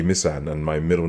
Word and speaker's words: Misan: name is ee missan so everyone calls me miss anza but it's a mishand and my middle name